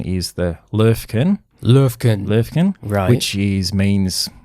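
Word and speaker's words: Löwchen: it's uh it's called the well it's proper pronunciation is the lurkin lurkin lurkin which is means little lion dog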